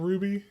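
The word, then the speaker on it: RWBY: hell is that uh the anime Ruby it's spelled RW b-y r w b y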